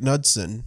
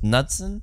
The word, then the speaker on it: Knudsen: Eric Knudsen. Knudsen? Mm-hmm. Oof. Just like every word with K and N.